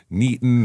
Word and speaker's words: Newton: I don't care if it's Newton or Neaton or whatever they want to say. You're like a fig Newton. It's Newton, Kansas.